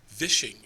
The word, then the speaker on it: vishing: of cyber attack called vishing it's spelled v with the v like fishing but now it's called vishing you know there's always